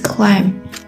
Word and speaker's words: climb: Here, this is climb. Alright, so B is a silent letter. Okay, you don't pronounce it as climber. No, right? It's not climber. It's just climb.